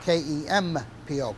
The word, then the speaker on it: Kempo: In Okinawa, it's spelled Kenpo. In Japan, it's called Kempo, Kenpo, which means the same thing, law of the fist or the fist way.